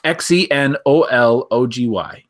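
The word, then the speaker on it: xenology: so we're the week Zini ology guys what is zeny ology is it pronounced genealogy z theology yeah that's what the the breakdown phonetically has here it's Xen Olo gy this um this is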